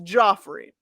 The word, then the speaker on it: Joffrey: from the looking, it's Joffrey. He gets pissed off when people call him Jeffrey. It's Joffrey.